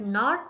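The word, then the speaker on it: know: silent है जैसे कि नो नो में केस साइलेंट है नॉट नॉट में के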